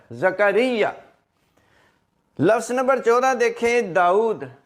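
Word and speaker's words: داؤد: लफ्ज नंबर 14 देखें दाऊद अक्सर लोग इसके इंग्लिश में स्पेलिंग लिखते हैं डी ए यू D Dawood no यह जो वाव है यह साइलेंट नहीं है यह मुतहर है और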